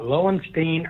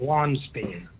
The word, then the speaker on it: Lowenstein: pronounce his name, pronounces is it Lowenstein or Lonstein? He pronounces it Lonstein. Yep. That's he got it right. Yeah. He nailed it.